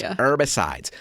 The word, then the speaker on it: herbicides: I've always said herbicides, but I can imagine there's somebody saying, no, you don't pronounce the H. You don't say the H. Yeah, it's herbicides.